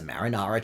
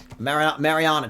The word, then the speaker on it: Mariana: No, you said marinara. Marinara? Yeah, Marinara Trench, man. The first time you went through, you said marinara, like a pizza.